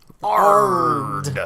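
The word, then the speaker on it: Aard: have a telekinesis spell that's called Ard, A-A-R-D. Ard.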